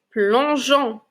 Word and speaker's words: plongeon: mon e et puis mon o comme dans plongeon vous voyez je ne dis pas plongon mais plongon maintenant nous allons lire quelques syllabes lisez avec moi les enfants g g